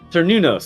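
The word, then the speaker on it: Cernunnos: Nobody says, "Hey, Sir Nunos, Sir Nunos, Sir Nunos." Yeah. I'm not sure. Sir Nunos. I'm Yeah, not yeah. sure The C's are always a hard C.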